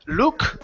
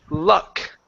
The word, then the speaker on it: luck: child okay good here instead of Luke the word is ah la luck neck good she had